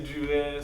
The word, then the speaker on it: Duret: We're here with the one and only Duret. You guys, I stand corrected. The T is pronounced. I'm thinking the T is silent. I don't know. It depends on the person. Okay. Some say Duret, some say Duret.